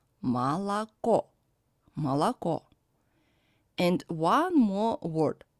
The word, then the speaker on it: молоко: The most typical example is молоко. Here we can see two O which are unstressed and pronounced as A, and one O is under stress, and that's why it is pronounced as in alphabet O.